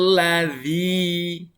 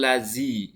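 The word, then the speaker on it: الذين: Selanjutnya, siratal ladzi. Nah, ada huruf dzal lagi ya. Hati-hati anak-anak ya, jangan sampai dibaca siratal lazi.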